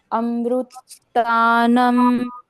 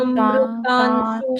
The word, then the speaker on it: अमृतांशु: अमृतानम शुद्ध। तानम नहीं, म का उच्चारण है ही वो नहीं। अमृतान अमृतांशु, शुद्ध। हाँ अमृतान शुद्ध।